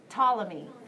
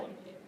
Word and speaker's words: Ptolemy: Starts with the letter P, but the P is silent.